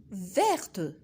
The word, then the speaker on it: verte: Alors, on dit vert, verte, vert, verte.